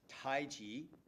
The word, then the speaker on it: taiji: English alphabet in Chinese the way that you pronounce what we say taiji is taiji taiji taiji and it's almost like G whiz you know taiji and